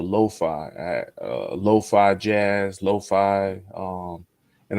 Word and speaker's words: lo-fi: at uh Lo-Fi Jazz Lo-Fi um and I'm saying it right Eli I used to call it loafy but uh so so